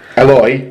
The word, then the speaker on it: Eloy: He told us that Eloy rhymes with boy in Catalonia. In Catalan. Right, well, then for the Catalan Dragons. But in French, it's Eloy. So we were, neither of us were... No, in French it's Eloy, he's saying. I said, is it Eloy? Sorry, Elwal. Yeah, my version is the French version, your version is the Catalan version.